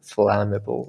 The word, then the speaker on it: flammable: flame inflammatory it's inflammable flammable like there's no aim in it there is no this diphthong we call this uh this diphthong right two vowels together is uh is a